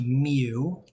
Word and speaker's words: mu: curve is, and mu, this is pronounced mu, like mu, is where the thing is centered.